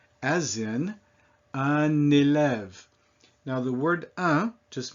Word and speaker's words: un élève: said that by itself, un. Élève means student or pupil. So when I say those two words together, I don't say un élève, I connect them, and then that makes that N pronounced.